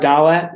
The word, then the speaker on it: Dalet: So hard pronunciation of Dalet is the D, and